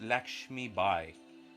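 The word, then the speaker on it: Lakshmibai: in battle so I don't know if I'm pronouncing it properly it's Lakshmi by so l a k s HMI Dash I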